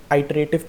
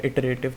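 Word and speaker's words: iterative: Right, when ever you do something with for loop और while loop that method is known as आइटरेटिव method, आइटरेशन और इटरेटिव जैसे भी pronunciation है, इटरेटिव method.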